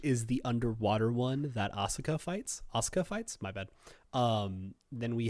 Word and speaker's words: Asuka: Just say Asuka.